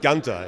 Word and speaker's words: Gunther: you know it's actually it's actually Gunther it's Gunda actually Gunther yes that's how I pronounce it at least but everybody has their